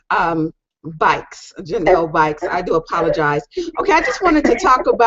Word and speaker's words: Buycks: okay well first off my name is Janelle bikes so now if they pronounced like v-i-k-e-s and I'm actually running for